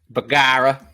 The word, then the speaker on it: Bergara: talking about the b14 burgera um or Hunter call calls it the bagara that's how you say it bagara uh the b14 HMR